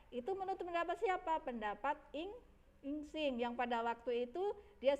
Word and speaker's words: Yijing: Ya, Insing ya, bacanya Insing ya.